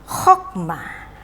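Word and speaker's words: חכמה: Nah, ya, saya membacanya ini dengan Chokmah. Itu adalah pelajaran yang sudah kita pelajari pada unit 9 yang lalu, ya. Bahwa kamats di sini itu diperlakukan sebagai kamats katan, ya. Jadi supaya Anda tidak lupa, saya akan mengulang sedikit, ya. Jadi di sini ada close syllable, yaitu sefa silent, sehingga saya membacanya dengan chokmah, ya.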